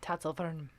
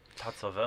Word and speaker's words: Tatzelwurm: And this week, we're going to watch the Tatzelwurm deal the damage. Ooh. Or if you want to be, accurate to the pronunciation, it's Tatzelwurm. Tatzelwurm.